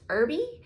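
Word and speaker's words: Erbe: and her name is janet e-r-b-e i think it's pronounced irby um but e-r-b-e and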